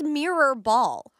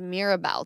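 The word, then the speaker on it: Mirrorball: I thought it was Mirabelle Trophy. No, Mirror and Ball.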